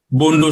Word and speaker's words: Bondo: Is it the Bolo Society? Bondo Society, Bondo, B-O-N-D. Okay, Bondo. And it does consist of women and men?